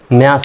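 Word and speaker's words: match: যেমন এম এটি সি এইচ এই শব্দে দেখেন শব্দের শেষে টি সিএইচ আছে। তার মানে কি? টির উচ্চারণ সাইলেন্ট হবে। তাহলে এম এর জন্য ম এর জন্য জফলা আকার আরটির উচ্চারণ সাইলেন্ট। সিচ তাহলে এম এটি কি হল? ম্যাস হল।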